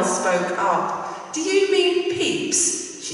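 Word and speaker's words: Pepys: the name of samuel peeps the restoration diaries i'm sure you didn't know how to know that it's not spelled the same as it sounds peppies the posh girls came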